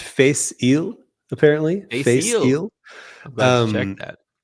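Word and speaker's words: Fèis Ìle: It is pronounced Face Ile, apparently.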